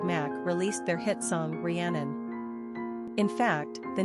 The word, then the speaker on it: Rhiannon: Number of syllables, 3. Ranking popularity, not applicable. Pronunciation, Rhiannon.